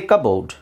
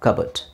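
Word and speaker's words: cupboard: see the next word did you just say Cabo then you're wrong cupo simple C it's cupo cup cup but all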